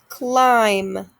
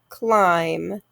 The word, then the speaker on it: climb: silent k next one climb my mb just makes the um sound climb my b is silent here's our first one